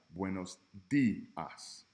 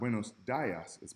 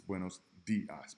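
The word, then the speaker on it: buenos días: that contain the letter i super simple like buenos dias it's not windows diocese buenos dias because the AI has that e sound buenos dias d Part D letter o is pronounced o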